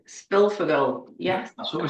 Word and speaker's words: Szpilfogel: I'm going to have a go at pronouncing your surname. I meant to ask you this. It's Spilfogel. Spilfogel, yes.